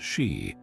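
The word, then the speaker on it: Sídhe: The Shia, pronounced She, or fairy mounds, dotted the Irish countryside hills that opened under moonlight to reveal glittering halls.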